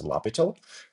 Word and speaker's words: L'Hospital: Actually looks a little bit like the English hospital but actually the French mathematician's name. So we pronounce as lobital.